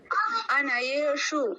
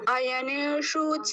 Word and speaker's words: अयनेषु: राना को थोड़ धान अनय अनय नहीं अयु है सॉरी मुसे पूरा बोलना एक बन जी जी भैया आयने सर्वे सर्वेश यथा भागा